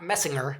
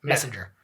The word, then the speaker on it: Messenger: Not Messinger. It's a soft G. Messenger. Yeah, he's a big body surfer.